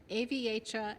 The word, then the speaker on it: Aviatra: Aviatra Accelerators. Think aviator, but the girl version.